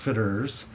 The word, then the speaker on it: Fitterer's: unusual name it's pronounced fitters I you just kind of let it roll off your tongue well it's spelled fitt